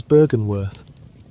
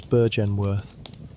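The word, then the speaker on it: Byrgenwerth: Its name is Bergenworth which you may say as Burgenworth.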